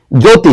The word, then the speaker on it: জ্যোতি: এ ধতি বলেছে জ্যতি। জফলা আছে না? কিন্তু উচ্চারণ হচ্ছে না।